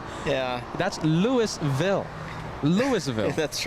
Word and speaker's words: Louisville: That's Louisville.